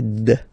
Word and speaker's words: zed: the last one Z zed zed okay so remember to pronounce this D at the end zed zed okay so let's